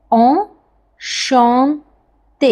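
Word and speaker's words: enchanté: to meet you in French we कैन से ओ श ते repeat after me slow first then we will make it fast ओ श ते इट्स bit nasal श okay ओ श ते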